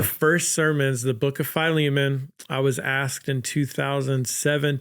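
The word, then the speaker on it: Philemon: They gave me the book of Phileiman and I I think I first pronounced it Filimon, you know. I I I rhymed Filimon like five times, you know, and then they're like, "They just thought you were being clever."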